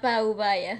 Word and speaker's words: Paubaya: is spelled together, like Paubaya. Yeah, even if it's together, you don't pronounce it all at once. You break it up. It has a different weight of the syllables are broken differently.